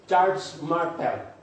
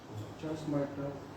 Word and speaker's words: Charles Martel: ang pangalan ni Charles pero ang pronounce doon is Charles Martel Charles Martel Charles Martel kalaban niya